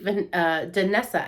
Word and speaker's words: Danessa: This is the Danessa. I keep saying Vanessa, and I'm so sorry because that's rude.